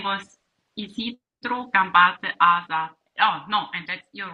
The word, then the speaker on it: Asa: A-S-A. Asa. A-S-A. Yeah. Asa. Asa. You say it like Ada, but A-S-A. Basque.